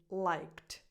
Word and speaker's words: liked: The correct pronunciation is liked. Liked. That E is silent. And in this case, that final D sounds more like a T. It gets a softer T sound, liked, because you're coming from a K sound.